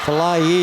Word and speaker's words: Falaye: Falaye is the way they pronounce it.